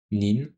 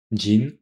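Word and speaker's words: 人: Par exemple, ce caractère qui veut dire personne, on peut le lire nin, jin ou bien hito.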